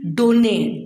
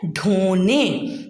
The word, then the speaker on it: ढोने: ऐसे ही डोने, डोने बेटे कोई वर्ड नहीं होता, वर्ड क्या होता है? ढोने।